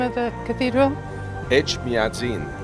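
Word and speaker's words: Etchmiadzin: Echmiadzin. Echmiadzin.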